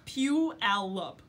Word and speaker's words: Puyallup: puh pulley up o PL up PL up Puyallup ooh or T Allah P Allah Puyallup yeah